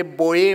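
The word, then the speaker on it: Boje: होतं उच्चार क्रोनिय करायचे बोझ म्हणून खेळाडू आपण बोझ वाचायचो ते बोय म्हणतात ते जला य म्हणतात आणि आपण यला ज म्हणतो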